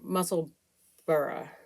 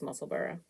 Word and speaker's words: Musselburgh: I'm through the increases, or a Muscle Burra, which I believe is the correct way to say it, the name of it, because it is named after a place. So I think it's Musselburgh.